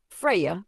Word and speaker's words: Freyja: Freyja, pronounced Freyja, is not just a love goddess.